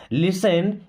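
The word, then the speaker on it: listen: करो okay लिसन carefully अब इस वर्ड में दोस्तों टी साइलेंट होता है इसको लिस्टन नहीं पढ़ते हैं लिसन मीस सुनो केयरफुली केयरफुली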